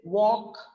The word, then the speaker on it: walk: about the l words so where the l is silent so here it is walk talk and chalk so when we are